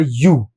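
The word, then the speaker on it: ewe: इसका उच्चारण होगा यू।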